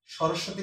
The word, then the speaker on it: সরস্বতী: সরস্বতী বানানটা আগেও কয়েকটি ক্লাসে বলেছি, মাঝখানের স্বটা দুইবার উচ্চারিত হয়, এই জন্য মাঝখানের স্বয়ের সাথে বফলাটা থাকবে, প্রথমটায় থাকবে না।